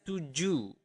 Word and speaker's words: tujuh: Seven is tujuh, tujuh or tujuh. But in Bahasa, we do not pronounce the H at the end of the word. So you do not pronounce it as tujuh, but tujuh.